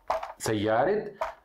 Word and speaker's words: سيارة: A pronúncia está certa? Não. Tem que mudar para a letra T também. A pronúncia, a escrita continua. Olha. Sayyara. Sayyaret al-estaz. Continua na árabe, tá marbuta. Só a pronúncia muda.